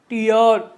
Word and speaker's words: tear: देखिए यहाँ पे भी दो वावेल हैं, यहाँ पे भी दो वावेल हैं, हर जगह दो वावेल हैं, लेकिन यहाँ पे जो साउंड है उसका चेंज हो जा रहा है।